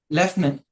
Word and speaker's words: lieutenant: Second word वैसे ही है, हम इसको पढ़ते हैं एज लेफ्टनंट, बट उसका स्पेलिंग थोड़ा सा अलग है.